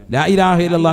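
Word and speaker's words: لا إله إلا الله: ഓരോ അറിവുകളാണ് വളരെ ശ്രദ്ധിക്ക ലാ ഇലാഹ ഹംസയാണ് വളരെ ശ്രദ്ധിക്കണം ലാ ഇലാഹ ഇല്ലല്ലാഹു അപ്പോൊ ഓരണയായി ലാഇലാഹ ഇല്ലല്ലാഹ അവസാനം നീട്ടി ഹാിന്റെ ഉച്ചാരണം കൊടുത്തു തന്നെ നിർത്തണം ഇതെങ്ങനെയാ ചല്ലന്ന് ലാ ഇലാഹ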